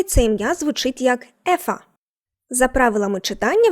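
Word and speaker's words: Eva: Але якщо скажеш Єва, то помилишся, тому що в німецькій мові це ім'я звучить як ефа за правилами читання в німецькій мові.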